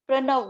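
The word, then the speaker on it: प्रणव: The pronunciation is Pranav.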